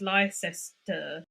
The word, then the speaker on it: Leicester: Or like Leicester, everyone would look at it and they'd go, "Oh, it's Lester. It's Leicester."